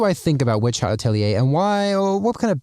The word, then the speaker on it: Atelier: much anticipated Witch Hat Atelier. Yes, that is how it's pronounced, I just looked it up.